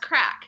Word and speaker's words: craic: Yeah, it's crack. It's pronounced crack.